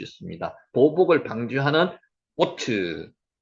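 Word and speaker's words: אות: 은혜가 % 졌다는 겁니다 오트 오트 표입니다 표 오트 요게 요게 오라는 발이죠 위에 가면은 바보의 위에 점이 지키면 오 발음을 합니다 그래서 오트 표라는 뜻입니다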